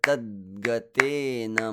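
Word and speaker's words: तद्गतेन: And similarly with tadgatena. I don't just rush through tadgatena. I say tadgatena. There is also kind of a pause with the fade in of the d.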